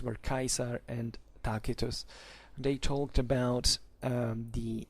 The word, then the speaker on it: Tacitus: and tacitus let's say better talk in ecclesiastical pronunciation but their real names were kaiser and takitus they talked about um the uh you know